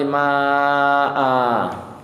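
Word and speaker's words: ماءً: Jadi memang ada alifnya, tapi kalau untuk kasus hamzah itu ketika fathatain tidak ada alifnya, tapi bacanya seakan ada alifnya Bu ya. Seakan kalau berhenti itu seakan ada alifnya, jadi dibaca dua harokat. Misalnya anzala minas samaa'i maa'a gitu Bu ya. Jadi bukan ma tapi ma'a gitu.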